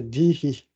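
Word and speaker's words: धीः: Il y a même un visarga à la fin, donc ce serait dihi, normalement, en sanskrit, mais ça, c'est pas très grave.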